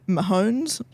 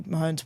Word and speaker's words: Mahomes: So Mahomes, Mahomes, yeah. Yeah, very famous footballer. Very famous footballer. And his wife. And Taylor Swift and the wife, Brittany Mahomes, were hugging.